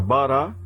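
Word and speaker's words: בָּרָא: E aqui também vai ser uma sílaba aberta, vai ser um A também, porque o Aleph não fecha sílaba. Então eu tenho a palavra bará, que é ele criou, com dois As.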